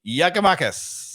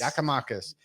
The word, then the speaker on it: Giakoumakis: So evidently, if Dave has done his research, evidently the proper pronunciation of this Greek fella's name is Giakoumakis. Giakoumakis.